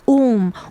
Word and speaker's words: womb: Naked I came from my mother's womb. womb이 뭐예요? W-O-M-B. 그래가지고 자궁이란 소리죠. 그래가지고 B는 silent예요. 발음 안 해요.